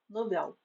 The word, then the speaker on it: novel: A palavra novel, que significa jovem ou inexperiente, cujo plural é novéis, se for pronunciada como paroxítona, será mais uma vítima da silabada. É novel.